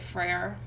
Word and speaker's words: Freyr: god of agriculture right freyr which really doesn't sound like freya it's but i'm not good at pronouncing it it's like fur but it also means